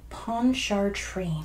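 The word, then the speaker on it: Pontchartrain: to it's a fancy word that is Lake ponchar train I'm gonna have to write that one out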